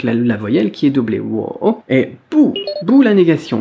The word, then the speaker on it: 我: Alors pour la prononciation, on a d'abord « wo », W-O, troisième ton sur le O qu'on a déjà vu. Le W qui se prononce un peu comme un U, comme un OU, comme dans wagon par